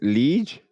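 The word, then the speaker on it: Liège: So, but I'm gonna go with Liege because I can't pronounce the E sound. But yeah, Liege, Belgium.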